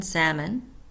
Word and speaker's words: salmon: c n 8 b l is silent in salmon nine CG is silent